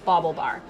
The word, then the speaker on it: BaubleBar: with the name come from so it's called bauble bar and yeah the AU the le ba are calm and it's pronounced bobble bobble Bobble bar so a bobble is a piece of fashion